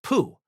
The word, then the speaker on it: Po: The man's name was spelled po but pronounced pooh.